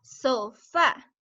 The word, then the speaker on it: sofá: ¿Qué tal en la palabra sofá? ¿Cuál es la sílaba que hace más ruido, que está más fuerte? Sofá. ¿Sería so o sería fa? ¿Qué piensas, Cecia? ¿Ah? Fa, sería fa, muy bien.